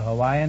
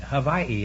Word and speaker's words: Hawaii: But we always say that if anybody says Hawaii. Hawaii is the correct pronunciation, huh? Hawaii or Hawaii? Yeah. But over here they say Hawaii.